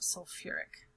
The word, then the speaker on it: sulfuric: This one's a little unique because we also add extra syllables. So instead of just saying like sulfate, sulfic acid, we actually add some of the original letters from the parent here. So we're actually going to call it sulfuric acid.